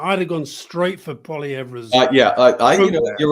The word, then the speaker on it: Poilievre: Because every time I call him Poilievre, because as you say, Canada's a bilingual, I get told it's Poilievre.